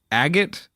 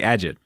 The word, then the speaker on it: agate: us what is it it's a handmade agate stone that's how you say it that's it I'm like I get I wanted to say a j't nope okay good thing